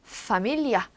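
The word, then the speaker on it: familia: F는요 영어처럼 파차름 소리가 나야 돼요. F 났던 것처럼 이제 얘는 포토 아니고 또라고 된 소리 포 그리고 파밀리아 이렇게 발음을 해주시면 됩니다.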